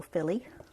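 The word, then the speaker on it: filé: apostrophe added the end of it so it's pronounced gumbo Philly and this serves as a thickening agent as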